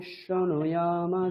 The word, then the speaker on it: শৃণুয়াম: ওম ভদ্রেং কর্ণেভিঃ শৃণুয়াম আমি অনেকবার বললাম, শ্রু বলবেন, ঠিক আছে? তালব্যস্বয় রফলা হ্রস্বকার এইটাকে উচ্চারণ করবেন, শ্রু, ঠিক আছে? শৃণুয়াম দেবাः। ইয়াম, ইয়কারটা ঠিকঠাক উচ্চারণ করতে হবে। ইয়াম, ইয়াম, ইয়াম শৃণুয়াম দেবাः।